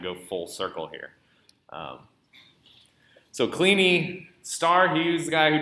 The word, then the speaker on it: Kleene: this up on wikipedia i believe his name is pronounced cleany he was actually so